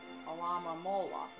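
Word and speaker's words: Alomomola: We should ask the Alama Mola. Okay, I pronounced it right that last time.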